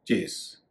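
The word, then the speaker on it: chase: किसी का पीछा करना इसका उच्चारण कई लोग गलती से तेज कर देते हैं इसका उच्चारण चेस यानी पीस फ लेकिन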